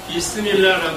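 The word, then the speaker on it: بسم الله: 이거는 칼이고 이건 칼이고 이 오른쪽에 있는 두 개가 아랍어로 비스밀라라고 읽는다고 합니다. 비스밀라.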